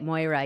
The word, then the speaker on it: Moira: I said it right, Moira.